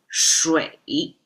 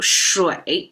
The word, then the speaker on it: 水: encounter because this is aqua, water in Chinese, pronounced as shuǐ. So shuǐ, just from the look of it, it has a middle line with a hook at the bottom.